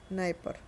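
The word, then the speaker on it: Dnieper: बस डी एन इसमें D silent रहेगा। नाइपर नाइपर रिवर यूरोप की।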